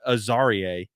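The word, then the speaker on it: Azareye'h: is uh is still a risk as a a zar Thomas uh is the actually the corre correct pronunciation uh the quarterback from Florida State I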